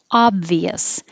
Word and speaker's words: obvious: yeah february february and obvious it looks like an o but it sounds like ah obvious so it's stress on the first syllable one two three obvious obvious and if